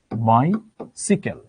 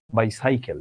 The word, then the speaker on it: বাইসাইকেল: এটার উচ্চারণ তো বাইসাইকেল না, এটার উচ্চারণ কি? এটার উচ্চারণ হচ্ছে বাইসিকেল, বাইসিকেল।